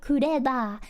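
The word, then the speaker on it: クレバー: You could say clever. Like, oh, you're so clever. And someone, you know, a lot of Japanese people might not understand what clever means if you pronounce it the English way. But if you say kureba, they probably know, you know, kureba.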